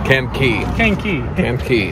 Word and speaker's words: Kankakee: How do you say it if you're a local? Kankakee. That's how the old folks say it down there.